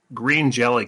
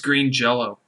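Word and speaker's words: Green Jellÿ: blame it sounds like green jelly cancels a lot of their tour dates it's green it's green jell-o green jell-o yes i i said it wrong i'm gonna take um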